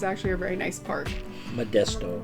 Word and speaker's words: Modesto: nice it was actually a very nice Park Modesto Modesto okay it's Modesto don't name your city's weird things the hardest